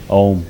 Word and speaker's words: om: But for instance, we will practice this mantra chanting with using the sound of om which is three syllables a u and m.